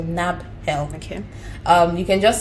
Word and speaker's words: Nabhel: search for nabel so my name is spelled n a b h e l so NAB help okay um you can